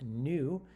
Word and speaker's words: nu: the side is pronounced new it's a greek letter in the greek alphabet and h um is